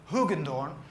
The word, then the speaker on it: Hoogendoorn: to pronounce my ass in english you would probably say hugendorn and in dutch because i'm dutch we say which is a horrible sound in english i know the sound